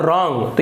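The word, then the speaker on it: wrong: करेंगे हम यहां पर डब्लू है वह साइलेंट रहता है और इसको ऊंचा होता है रंग यहां पर देखिए डब्लू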